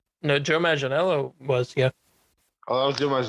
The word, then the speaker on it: Manganiello: Joe Manganiello's is that how you say his name?